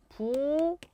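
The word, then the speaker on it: 부엌일: 자, 부억일이 발음이 어떻게 되는지부터 한번 생각을 해보죠. 발음이 어떻게 되나요? 부엉일 이렇게 되는 것을 볼 수가 있습니다.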